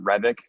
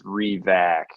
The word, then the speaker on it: Revac: My name, everyone pronounces it Revik. It's no, it's Revac. Just RE, like you're doing re-projection, whatever.